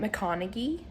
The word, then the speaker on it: McConaghy: Um, it actually is Charlotte McConaughey. She's Australian, and that's how she pro- pronounced her name, so I was wrong.